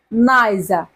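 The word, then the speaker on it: niger: হবে নাইজা নাইজা ছাত্র-ছাত্রীরা এখানেও আর এর উচ্চারণ হবে না তাই উচ্চারণ হবে নাইজা অর্থ রাম ওকে তারপরে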